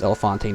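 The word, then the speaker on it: Elephante: I'm pretty sure it's pronounced Elefante, not just elephant.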